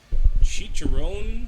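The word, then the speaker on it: chicharrón: me say let me make sure that i pronounce this correct chicharron so this is like the chicharrones the skin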